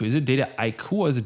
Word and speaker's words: Dataiku: Is it Dataiku or is it Dataiku? So there's a lot of different pronunciations, especially since we're such a global company. But the word itself is a portmanteau, so a mashup of data and haiku, right?